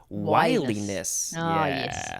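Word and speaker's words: wiliness: is that word uh that would have been spelled with two l's this is one l which is wileyness makes more sense now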